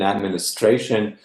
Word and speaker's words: administration: Yeah, so in administration, the stress is in the penultimate, and in admin, it's actually on the initial syllable.